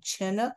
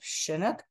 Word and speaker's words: Chinook: in the past about why do you say Chinook instead of Chinook so I've put in this slide in the middle that shows uh the Chinook Nation quite clearly set shows how to pronounce it with a hard CH sound like in chin or chipmunk monk or church rather than a sha sound this is a 1900